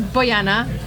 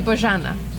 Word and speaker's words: Bojana: Her name is Bojana, but it's actually Bojana.